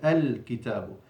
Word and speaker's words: الكتاب: الكتاب, first letter is همزة الوصل, not pronounced, so now the second letter has actually become now the first letter, and the lam has a sukun, الكتاب.